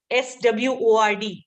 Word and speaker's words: sword: Next word is SWORD.